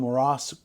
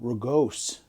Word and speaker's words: rugose: It's not called morass corals, it's called rugose corals.